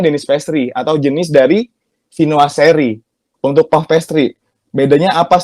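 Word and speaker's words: Viennoiserie: Jadi bacanya itu Vinoiserie.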